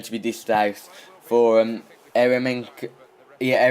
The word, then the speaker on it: Eremenko: And you can see here, an early yellow card is going to be dished out for Eremenko. Yeah, Eremenko, that's how you pronounce that.